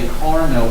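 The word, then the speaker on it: Carnot: theoretical engine called a Carno engine it's French so the t is not pronounced so a caral engine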